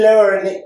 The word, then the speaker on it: learned: d, o la d, la pronunciación al final tiene que sonar como una D.